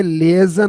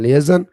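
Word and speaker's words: liaison: तो यह लेजन होता है। इसके spelling L आई ए आई एस ओ एन लेजन और यह होता है to have good रिलेशन with the people.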